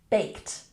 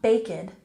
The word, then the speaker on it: baked: And baked. It's not baked, it's baked, baked. Good.